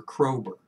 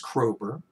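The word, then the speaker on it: Kroeber: ursula k le guin the k stands for krober k-r-o-e-b-e-r uh just for your reference again you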